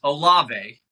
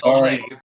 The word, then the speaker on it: Olave: Yeah, so it's Olave, just so everybody knows, not Olave. Yeah, sorry. My bad. Olave, no disrespect. I was actually, if people watched the full video, I was giving Olave credit of how well